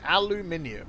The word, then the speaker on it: aluminium: about how to say aluminium that is the correct way aluminium and we even spell it like that as well so there there we